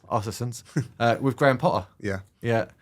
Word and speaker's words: Östersund: Do you want to pronounce it? Östersund. Östersund.